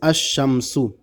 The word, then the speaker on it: الشمس: کر کے پڑھیں گے، یعنی لام کا تلفظ نہیں کریں گے، یعنی حروف شمسیہ جو